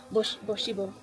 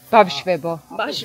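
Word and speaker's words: ბავშვებო: Am I saying it right? Boshibo? Bavshvebo. Bashvebo. We have very difficult grammar, but we can practice.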